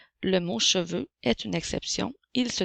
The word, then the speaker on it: cheveux: X a des cheveux le son eu fait le son e